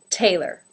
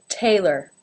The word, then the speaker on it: Taylor: more MORE number 10 Taylor Taylor has the ay as in say diphthong and the second syllable ler ler again without a real pure vowel sound in there Taylor Taylor Taylor this second